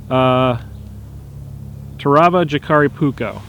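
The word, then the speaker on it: Terävä Jääkäripuukko: train the background ruining my video as always to ravage Akari pouco so the Shikari pouco comes from very silica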